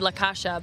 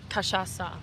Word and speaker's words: cachaça: And he said it so softly, he said La Casha, but it's cachaça.